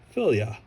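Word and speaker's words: Fylgja: Filgaja. Anyway, this word is Scandinavian in origin and it's pronounced as filia.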